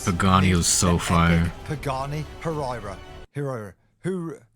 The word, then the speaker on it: Huayra: Herra. Her. How do you say it? It's Hayira.